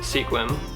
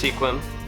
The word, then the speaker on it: Sequim: Hey guys, so I'm out here in Sequim. I'm not sure if that's how you say it. Let me know in the comments below. It's pronounced Sequim. I asked. It's Sequim.